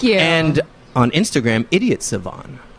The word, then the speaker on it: Sivan: name I always say it's like idiot savant without the tea were